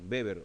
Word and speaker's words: Weber: Bueno, el de arriba, Weber primero, Weber o Weber, ¿eh? Se pronuncia Weber en americano, en alemán, pero Weber también lo escribimos.